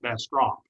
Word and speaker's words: Bastrop: And here's a bumper sticker that says, oh, Bastrop does not have U in it. In other words, not Bastrop, but Bastrop. Now, here's another way that he invented for you to remember how to pronounce this name. You take a fish. You hold the fish in your outstretched arms. You let it go. And there it is. That's called a bass drop.